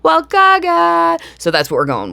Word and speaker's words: Walukaga: Walukaga seems to just kind of ignore the U in the middle of it, which I found interesting.